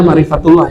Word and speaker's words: ma'rifatullah: Ma'rifatullah atau ma'rifat Allah. Bacanya ma'rifatullah ya.